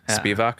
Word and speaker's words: Spivak: So from what it seems to me, your synthesis really includes basically Foucault, Said, and I don't know, Gayatri Spivak, is that how it's pronounced? Spivak, okay.